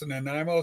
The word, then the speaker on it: Nanaimo: Americans don't know how to pronounce Nanaimo, so we're Nanaimo.